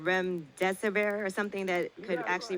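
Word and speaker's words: remdesivir: about REM disaver I don't know if I'm pronouncing it right but they're saying this is experimental drug called rem deserver or something that could actually really help with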